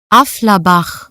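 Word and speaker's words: Affalterbach: It involves driving the car back to its birthplace in anyway, here's the right pronunciation. Afflerbach.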